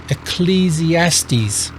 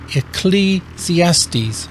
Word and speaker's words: Ecclesiastes: for now I just want to go through pronouncing them we have Joe Psalms with the silent P Proverbs here's a tricky one Ecclesiastes Ecclesiastes Ecclesiastes then we have Song of Solomon or it